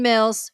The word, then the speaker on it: Mills: you don't know me Mills it rhymes with bills dollar dollar bills I'm a financial educator